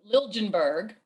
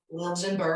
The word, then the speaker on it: Liljenberg: So Liljenberg, Liljenberg, Liljenberg, which I mean the Swedish pronunciation would be Liljenberg.